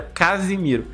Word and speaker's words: Casimiro: porque tem diferença né uma é Casemiro e o outro é Casimiro assim você tomar um cuidado na hora de pronunciar você e ouvir também você consegue sentir a diferença uma eu Casemiro eu vou até Casimiro um andando ele chegou muito